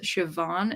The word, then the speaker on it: Siobhan: Zach says, "So is pronounced Siobhan. It's one of those strange Irish spellings."